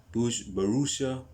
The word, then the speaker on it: Borussia: That is basically Dortmund's attitude at this moment in time, because it says here that Borussia, that's how it's pronounced.